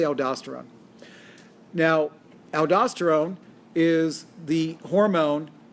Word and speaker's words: aldosterone: make even more aldosterone now you'll hear aldosterone aldosterone and you'll hear it pronounced aldosterone i say aldosterone now aldosterone is the